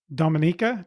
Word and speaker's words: Dominica: too because if you look on a map Dominica did I say it right this time yep y okay so if you look on a map Dominica is actually between martinque and guadaloop which are